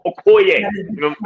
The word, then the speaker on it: Okoye: Okoye, Okoye. You know what I'm saying? Okoye. You know what I'm saying? Gotta pronounce it from the throat.